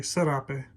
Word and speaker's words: serape: we call them here i pronounce it with a z in uh europe zarape here in texas we say serape so i believe this